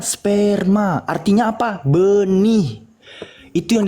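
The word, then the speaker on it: σπέρμα: Pleges ean dote peri amartias puci human opetai sperma sigma mu epsilon rho mu alpha. Dibacanya sperma, artinya apa?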